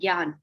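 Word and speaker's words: ज्ञान: Jnana. Jnana. Okay. Gyaan. Gyan. Gyan means knowledge. Okay. I spelled it phonetically, which was wrong.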